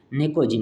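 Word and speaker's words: pnictogen: इसका जो है नाइट्रोजन और उसका दूसरा नाम है नेकोजिन। अच्छा पी यहां पे साइलेंट है।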